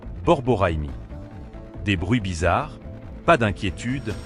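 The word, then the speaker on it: borborygme: On les appelle les gargouillis du ventre ou en bon français scientifique, borigmi prononcé borboraimi.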